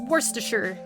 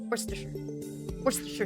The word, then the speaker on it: Worcestershire: It's Worcestershire. Worcestershire sauce.